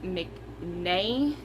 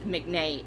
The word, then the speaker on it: McNay: At like I said, I think it's pronounced McNay, MCNAY.